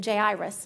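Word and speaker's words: Jairus: the story of now now Kenneth pronounces it J irus and I figured he probably knows I always called it gyrus and apparently that wasn't right so the story of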